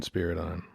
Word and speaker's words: Spyridon: was yeah same spot spyridon there's no spiders on spirit on nope no spirits on